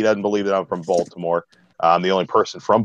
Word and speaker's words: Baltimore: I worked out of Baltimore for 10 years I can't no way I actually brought it up how are you from Baltimore it's pronounced Ballmer when you're from the